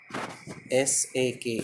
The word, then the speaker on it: sake: One of the spelling is there, Sake, but its actual pronunciation is Sake, means Sa pronounced as Fa in father, and Ke pronounced as Way in WAY, means it's far away.